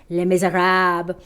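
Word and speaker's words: Les Misérables: miserables i know but the french pronunciation is les miserables and it's an amazing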